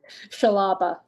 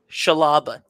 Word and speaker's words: Shala: me one more time Shala Shala it's so easy it's it the thing is it's spelled differently than it's pronounced it sounds like there should be an H in there there just isn't and that's okay it's